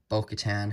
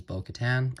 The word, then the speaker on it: Bo-Katan: It's her jetpack, which is very small, but same mold as Bo-Katan, or Bo-Katan. I say it like Moff Gideon.